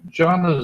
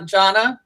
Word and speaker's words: Jana: uh Jonna Jonna is am I pronouncing your name correctly oh J Jan J Janna it's j Janna J okay jna is an